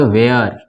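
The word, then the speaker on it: where: इसको क्या पढ़ेंगे, इसको पढ़ेंगे वेयर, यहाँ भी एच साइलेंट है, ठीक है।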